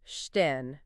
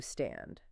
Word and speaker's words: stehen: How would you pronounce the word stehen, meaning to stand? Okay, let me think. Applying the rule, I'd say it's stehen, not stan.